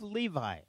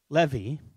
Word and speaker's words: Levi: to miss it now the tribe of levi which in hebrew is really pronounced levy okay the tribe of levy worse at up art